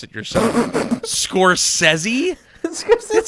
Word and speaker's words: Scorsese: That's really how you say his name, is Scorsese, Yes, sir. not Scorsese.